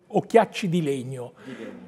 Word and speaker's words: Occhiacci di legno: Alors, comment prononce-t-on ? Occhiacchi ? Occhiacci di legno.